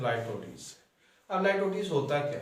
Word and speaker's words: litotes: पहले तो इसको ज़रा इसके प्रोनाउंसिएशन को ठीक कर लेना है। इसे लिटोट्स पढ़ते हैं पाकिस्तानी, तो ये लिटोट्स या लाइटोटीज है। IPA के मुताबिक, इंटरनेशनल फोनेटिक अथॉरिटी के मुताबिक इसका प्रोनाउंसिएशन लाइटोटीज।